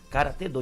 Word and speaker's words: karatê-do: Karatê, e tiraram o do, mas a pronúncia correta é do, karatê-do, e o do é a disciplina, karatê-do, judô, aikido, taekwondo, todos têm do.